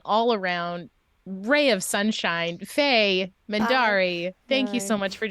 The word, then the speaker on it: Mendarii: I am Mendarii, all over the internet, which is spelled Mendarii.